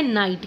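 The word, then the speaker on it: knight: silent letters होते हैं जैसे एग्जांपल है नाइट का के एन आई जी एस टी यहां पर के क्या है साइलेंट है सो फोनेटिक्स ज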